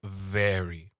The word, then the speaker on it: very: It's not ferry. It's very v. So you have to be able to make that sound like a vv sound.